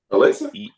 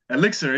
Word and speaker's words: elixir: Elixir, yeah. It's supposed to be a medicinal potion. Am I saying it wrong? I think you said Alexa or something like that.